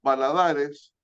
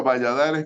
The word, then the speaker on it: Valadares: Después Rodrigo Valadares, en español sería Valladares, como se escribe, pero Valadares, Paulo Valadares, lo conozco personalmente.